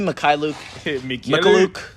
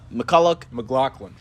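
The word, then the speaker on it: Mykhailiuk: And it was fun watching him play and see how many different ways the Rockets announcers could try to pronounce his last name. It's Svi Mikhailuk. McLaughlin.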